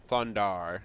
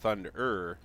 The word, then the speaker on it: Thundar: you guys know who Thunder thundar not thunderer but thundar however you want to pronounce it it's thund and then R the scriptor guy that